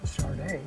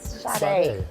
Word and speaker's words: Sade: Sadie. You say that one more time. I wasn't in Fresno when she came out. I was what was I? Never mind. Sade, how do you say it? Sade.